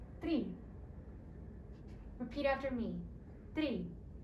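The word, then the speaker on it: три: Tri. Repeat after me. Tri. This is similar to the English word tree, but you roll your R's a little more.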